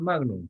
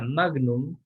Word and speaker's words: magnum: Entonces, la palabra magnum viene justamente del latín. En latín no se pronuncia magnum, sino magnum. Y bueno, significa grande.